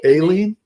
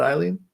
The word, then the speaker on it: Aileen: Aileen, Aileen. not Eileen. Well, I think she said Eileen, but she specifically said I spell it with an A.